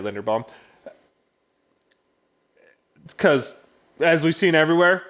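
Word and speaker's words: Linderbaum: a quarterback oh no i said it right linda bomb because as we've seen everywhere quarterbacks are hard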